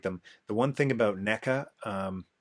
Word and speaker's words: NECA: the one thing about NECA Nika I will always mispronounce it Nika and MacFarlane but the